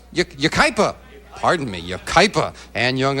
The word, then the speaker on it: Yucaipa: And the opening poem sent in by Ann Young of Waikapa, California, watching us on, am I pronouncing that right? Yucaipa.